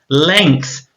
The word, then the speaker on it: length: Length. Try and say that word with me again. Length. That's a really tricky one to say because it's got the th sound at the end.